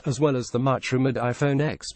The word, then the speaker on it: iPhone X: iPhone 8 Plus, as well as the much-rumored iPhone X pronounced 10.